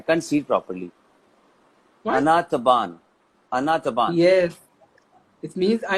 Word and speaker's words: أنا تعبان: Anataban. Okay. أنا تعبان. Ana. You say أنا تعبان. Oh, أنا تعبان. We always do this. Just tell me the pronunciation 1 second. Yeah. أنا تعبان. Anataban. Yes. Anataban.